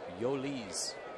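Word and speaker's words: Jhoulys: and chipper do up h o u l y s pronounced yoli's out of venezuela he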